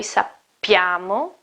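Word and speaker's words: sappiamo: and then appears again it is a double P in the first person plural and then a single P in the second person plural so the pronunciation is also different no isapi amo snot-nose no esup llamo but no sappy amo sappy amo in the second case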